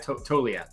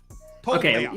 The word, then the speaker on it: Toglia: I have Toglia. Toglia? I believe that's correct. Toglia, yeah. Got to pronounce the G a little bit. Toglia. Okay. So someone told me that it's a silent G.